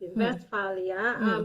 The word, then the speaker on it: Westphalia: Ano pag-pronounce? Westphalia. Okay, sige. Yes, Westphalia. Kay ang W, they pronounce V. it as V.